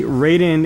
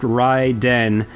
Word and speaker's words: Raiden: fans and, you know, prefer to say things the Japanese way. And, yeah, technically, Raiden is pronounced Raiden, which I believe stands for thunder and lightning.